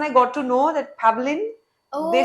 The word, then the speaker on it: Pavleen: pav no no no please call me pavin in Russia maybe we can say pavin but no no in India it's pavin all right all right